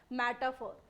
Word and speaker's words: metaphor: दूसरा हमारा क्या है मेटाफोर जब इसे पढ़ते हैं जब इसका funization होता है तो आर साइलेंट होता है मेटाफोर पढ़ते हैं इसको एंड इंप्लायड सिमिली